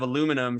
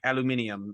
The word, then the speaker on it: aluminium: and she pronounces like instead of aluminum she's like aluminium and she likes it so my my kids are always like that's the wrong way to say it i'm like well actually